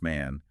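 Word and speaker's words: 万: The Japanese character for the number 10,000, which is pronounced man, visually resembles a person walking.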